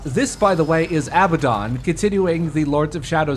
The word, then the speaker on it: Abaddon: uh from donna sorrow oh it's abaddon sorry i kept calling him abaddon i think both pronunciations are valid but i i uh i play a lot of persona so i tend to hear like abaddon because that's how they pronounce it in that series also this guy is